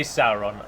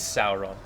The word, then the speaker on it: Sauron: Every time I say Sauron, I always I'm reminded of numerous... One of the most common names to be mispronounced, I think, is Sauron.